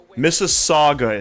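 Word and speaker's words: Mississauga: Missaga is how you pronounce it, but a lot of Americans don't know how to pronounce it correctly. They're struggling with Missaga. I don't know why. Don't know why. It's like Mississippi, but Missaga.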